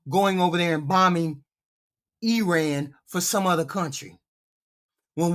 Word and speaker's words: Iran: Bombed Iran. I'm sorry, it's pronounced Iran.